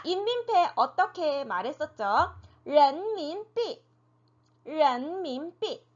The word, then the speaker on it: 人民币: 人民币 네, 人民币라고 읽었죠.